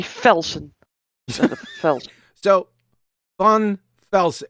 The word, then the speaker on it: Van Velsen: It's not Von, it's Van. Vaughn. No, Van. Fun. Van Velsen. Yeah, Van Velsen.